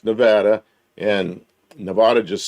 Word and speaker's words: Nevada: And the other one is Nevada. Nevada. And it's not Nevada. It's Nevada.